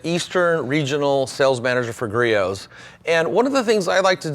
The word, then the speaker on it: Griot's: So many people I hear talk about this brand, they say Griot's. Okay, G-Riot, Greats, we've heard it all. It's Griot's. The T is silent. Griot's, okay?